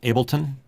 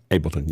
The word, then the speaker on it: Ableton: You mentioned connecting uh ad to I'm sorry Alex I keep mispronouncing it. Ableton Ableton.